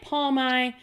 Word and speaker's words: Palmai: good like OED to our next guest Nick palmont that's how you pronounce his name everybody CU say everyone says